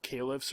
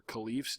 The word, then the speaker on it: caliphs: They were called caliphs or caliphs, depending on your pronunciation.